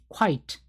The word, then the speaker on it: quite: quite, quite라고 읽고요.